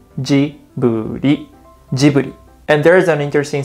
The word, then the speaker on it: Ghibli: first one is ghibli i've heard americans pronounce it like i said ghibli but in japan we say djibouti and there is an